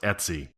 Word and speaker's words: etc: and it's generally pronounced Etsy.